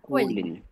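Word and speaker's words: Köln: এ আর একসাথে আছে না, এ এবং আর একসাথে থাকলে আ উচ্চারণ হয়, বার্লিন। এটা গ্যানফ। গেন। এটা কোইলেন। কোয়েলেন না, কোয়েল কুলিন।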